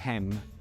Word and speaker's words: Hem: Poi abbiamo lo stendardo che si legge Necer, cioè Dio, seguito dal bastone che si legge Hem, che vuol dire servitore.